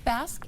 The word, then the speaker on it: Basque: Am I pronouncing that correctly? You are. It is Basque.